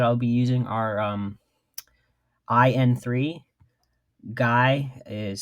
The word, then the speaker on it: GAI: Guy is spelled GAI, all uppercase, and the Higher Brothers,